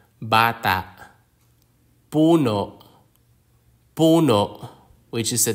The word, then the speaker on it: bata: or malum or malumi most Filipino words have the stress on the second to last syllable example words are Bata which is a child Bata puno puno which is